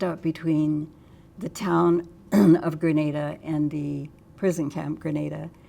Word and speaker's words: Granada: Colorado and um the the locals there pronounce it Grenada not Granada um the town had